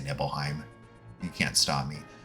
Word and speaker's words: Nibelheim: of a reactor in Nibelheim or Nibelheim. Probably the latter pronunciation is preferable because it's, think the word nibble, saying nibble makes it feel less serious.